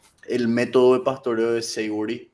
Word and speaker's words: Savory: No sé si viste alguna vez, y estoy seguro que sí, el método de pastoreo de Savory, o no sé, creo que se menciona, se pronuncia así, Sí, Savory.